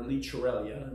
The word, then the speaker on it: Llicorella: premier release of our liter Eliana which is how you pronounce it in Catalonia it's a wine that